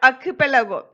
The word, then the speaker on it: archipelago: These stories are all from the Andaman and Nicobar archipelago. Children, underline the word archipelago. Archipelago, we have to pronounce it like, we have to syllabify and pronounce like A-R means A.